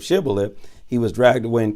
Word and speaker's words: Shibboleth: But if he couldn't pronounce the H and said Sibboleth instead of Shibboleth, he was dragged away and killed.